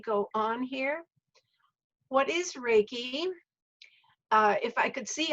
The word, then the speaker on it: reiki: in the japanese alphabet the top one is rey and the bottom one is key and so it's pronounced reiki and it means spiritual